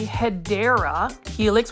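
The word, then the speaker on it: Hedera helix: plant now this plant right here is another hedra helix or what you call the pedera Helix which is the comp the correct way to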